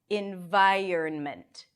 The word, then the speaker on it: environment: environment, environment. However, there is another way that makes it even easier to pronounce, and that is without the N.